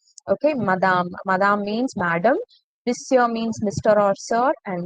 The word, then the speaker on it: monsieur: Monsieur, the word is written, the spelling is completely different and the way it is pronounced is completely different. Monsieur, it is not monsieur, it is monsieur.